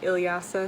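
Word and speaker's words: Ilyasah: Elsa from the future I just wanted to tell you the proper pronunciations of these names so the book X is written by ilyasa Shabazz and kekla Magoon I'm sorry for how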